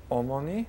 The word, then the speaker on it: 어머니: Pronounce that one more time. 어머니.